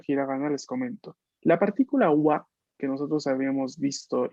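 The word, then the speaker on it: は: Pero luego tenemos otro wa, pero este no es este, pero se pronuncia igual. ¿Por qué? Porque es partícula.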